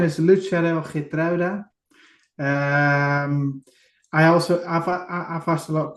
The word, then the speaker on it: Lutsharel Geertruida: Now, I'm going to let you pronounce his name because I'm struggling with this one, mate. So, yeah, his name is Lutsharel Geertruida.